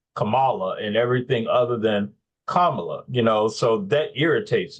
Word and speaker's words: Kamala: how to say it it's Kamala like the punctuation comma Comm then I guess